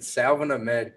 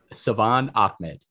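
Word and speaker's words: Salvon Ahmed: But Salvin Ahmed kind of scares me. Yo, say his name correctly. Yo, still wrong. Savon Ahmed.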